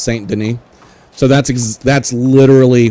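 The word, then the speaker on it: Saint Denis: about ashes I I said I was saying St Dennis and then I forget who in the chat but like by the way I just want you to know what pronounced St Den so that's ex that's literally what I'm talking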